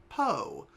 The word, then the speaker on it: Poo: Okay, so we get to play as Po, which I've called Pooh in the past. I'm pretty sure this is pronounced Po. Like Popo.